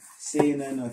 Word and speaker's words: seinen: Psychological, seinen.